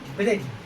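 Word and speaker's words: bridge: जब किसी वर्ड में डी के बाद जी आता है तो डी का उच्चारण नहीं किया जाता है।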